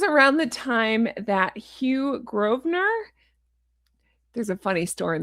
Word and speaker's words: Grosvenor: When I went to London I didn't know it was pronounced Grosvenor. I thought it was Grosvenor. Because there's a whole beautiful area in London called Grosvenor and I asked the taxi